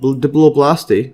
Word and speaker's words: diploblast: uh so going here this dipl blast diploblast Diplo blasty let's see the pronunciation diploblast yes so Diplo blasty is a